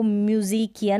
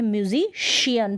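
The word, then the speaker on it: musician: ये है म्यूजिशियन, इसको म्यूजिकियन नहीं पढ़ते हैं, म्यूजिशियन नहीं पढ़ते हैं, म्यूजिशियन पढ़ते हैं, श।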